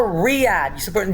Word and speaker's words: Riyadh: It's not Riyadh. You pronounce it like it's Rio. Like you said Riyadh. It's Riyadh. Lima, that's in Peru.